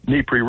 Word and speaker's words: Dnipro: eastern side of the Dnipro River. The D's not pronounced. It's Dnipro or Dnipro River.